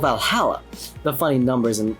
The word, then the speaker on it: VA-11 Hall-A: Good thing it's actually called Valhalla.